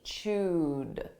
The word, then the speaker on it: chewed: Notice this is an ED verb, a past simple verb, but the pronunciation is a soft D, chewed.